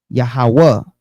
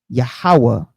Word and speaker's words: Yahawah: the consonants leading to Yahawah often written Yahawah or Yahawah right so how do we get Yahawah which is three syllables Yahweh is two syllables so in the Greek it's two syllables Yahweh Yahoo Right.